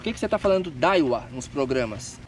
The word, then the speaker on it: Daiwa: Conjuntinho Daiwa com Fishing Tour.